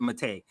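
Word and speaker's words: Maté: Or he pronounces it Mate.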